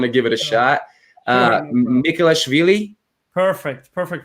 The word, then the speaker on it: Mikhelashvili: to i want to give it a shot nicholas veli perfect perfect pronunciation i'm used to so many different versions